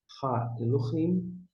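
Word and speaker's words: האלהים: Como é que você pronuncia? Daqui para lá. Ha, Elohim. Ha, Elohim.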